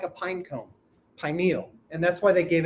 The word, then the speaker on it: pineal: Here's how we pronounce it usually, pineal, because it means pine-like. It's my first joke to y'all. If you say pineal, you think it looks like something else. Just saying. So it's pineal.